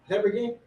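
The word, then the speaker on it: habergeon: it, as it were the whole of a hebergin. Hebergin. That's how you pronounce that.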